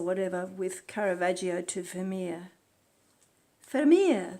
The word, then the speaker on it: Vermeer: Vermeer, that's how you say it in Dutch.